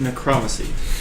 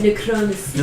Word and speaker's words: necromancy: It's pronounced necromancy. Yeah, necromancy.